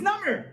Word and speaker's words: number: oh so number is number no that's an exception it's number actually exceptions